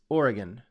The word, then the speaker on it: Oregon: so just like the the state I'm in is is Oregon it's not Oregon it there's no gond it's Oregon it's all nice and smooth anyway I'm digressing um